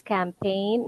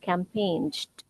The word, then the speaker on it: campaign: try to apply that it's always camp cign not campaigned okay so that's silent G try to apply that